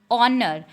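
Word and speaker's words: honor: ऑनर, यहाँ पे H silent है और साउंड इसमें ओ की आ रही है।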